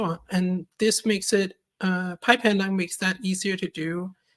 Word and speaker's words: Pypandoc: What's Pypandoc, if I'm saying it right?